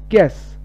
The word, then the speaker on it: guess: Guess U da lama akhriyo. Guess.